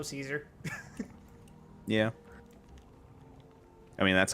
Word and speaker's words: Caesar: uh you mean keer I've been making it a point to pronounce it as kaisar every time I'm Legion Affiliated and when I'm not I just go Caesar yeah I mean that's